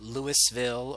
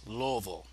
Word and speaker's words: Louisville: yes if you're a Louisville Ian you just pronounced Louisville not Louisville or Louisville it's Louisville and anyway around here snow isn't that common